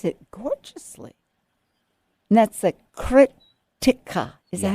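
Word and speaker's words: Krittika: And that's the Kritika. Is that how you say it? Yeah. Krttika.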